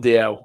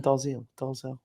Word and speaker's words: Dalziel: There's a place in Glasgow called Dalziel, and I thought it was called that. It's called DL.